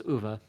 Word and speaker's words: Uwe: I've heard it pronounced Uwe Boll and such, but I guess it's Uwe.